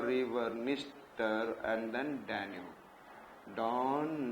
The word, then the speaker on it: Dniester: And here you can be able to see Don River, Dnieper River, Dniester, and then Danube. Don, Dnieper, Dniester, सब में DD है, and D is silent.